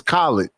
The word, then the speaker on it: Khalid: fact that you don't even know how to say his name is disrespectful. His name is Khalid. Geotron, As in collard greens? as in No, Khalid Muhammad. Khalid Muhammad. KH.